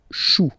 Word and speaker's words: choux: Then, un chou, okay, remember, when you combine this C and H, you get the sound sh. Chou, un chou, pluriel, des choux.